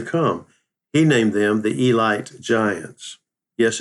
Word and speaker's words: Elite: for years to come he named them the elite Giants yes it's spelled EIT T but it's pronounced Elite Nashville